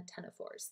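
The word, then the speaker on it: ctenophores: and the cnidarians and the tena fours the C is silent and both of these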